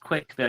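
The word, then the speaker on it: CWCville: Chris speak I guess pronounced quick Ville you just say CWC spelled like the word quick uh but secondly um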